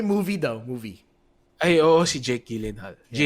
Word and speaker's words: Gyllenhaal: oh well they movie the movie IOC Jake Gyllenhaal it's how you pronounce them apparently Gillian like a giant halva